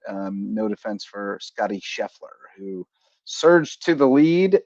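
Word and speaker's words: Scheffler: name wrong last night you kept calling him shefer uh instead of sheffler but you were right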